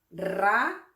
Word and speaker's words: raro: Aquí empezamos con una R fuerte y luego continuamos con una R suave. Es decir, primero el sonido R y luego el sonido R. Entonces tenemos raro, raro, raro.